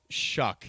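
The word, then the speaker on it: Shough: are their new quarterback show that you pronounce it shuck is how you pronounce it apparently he has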